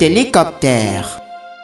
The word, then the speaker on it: hélicoptère: Cet hélicoptère. Masculine noun beginning with a silent H.